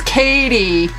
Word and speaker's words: Cady: It's Katie. Did you hear me mispronounce it on purpose?